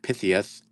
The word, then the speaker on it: Pythias: This is Masonic Temple, Philly, Gettysburg, 9th of Pythias of Pennsylvania, 1889 assessment. Brian Goodman says you got to pronounce that just like Mike Tyson, 9th of Pythias.